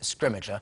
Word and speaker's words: Scrimgeour: We have kind of eventually reached consensus on how to say his name, and we're going with Scrimmager.